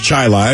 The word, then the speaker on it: Chili: of rochester in fact it's spelled chile it's pronounced chili where a child central school district bus driver